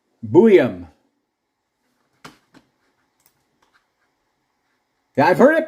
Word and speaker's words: Buium: Susan, it is Buium. Buium. Yeah, I've heard it pronounced a couple different ways. I've heard it as Buium.